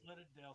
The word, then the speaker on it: Lyrandel: Is it Leandril? No, it's Lyrandale. Sorry, I Lyrandel. messed up.